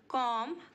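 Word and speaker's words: comb: not touch hanging wires बाल बनाना कॉम कमड कमड यहां पर हमारा बी साइलेंट है मैं तुम्हारे बालों में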